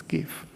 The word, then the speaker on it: GIF: files actually give files the prono proper pronunciation is gif uh and the pink